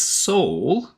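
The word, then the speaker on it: Sol: So he spells it S-O-L, but he pronounces this Soul, which should tell you a lot about the mental and emotional state that he's going through.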